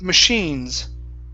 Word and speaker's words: machines: here this is machines instead of machines it's machines machines okay give me an sh sound machines machines i see